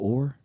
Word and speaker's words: Oher: One thing that's been on my mind is like hot off the presses is Michael Oher.